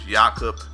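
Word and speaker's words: Jakob: pronounce it jakub hurdle the phonetic the way it's spelled you may think is Jacob but his yakup and last name was pirtle it's a seven foot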